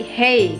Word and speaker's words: hej: Jadi di Swedia itu J itu dibacanya Y, jadinya bukannya hej tapi hey gitu.